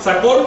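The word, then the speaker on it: Tz'acol: Da primero cuatro nombres que son, todos se pronuncian agudos hasta donde yo sé. Si alguien me puede corregir, adelante. Se llama Sacol, Vitol, Alón y Cajolón.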